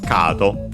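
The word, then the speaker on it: カード: This one is actually accented as expected on the ka, on the first syllable, kado.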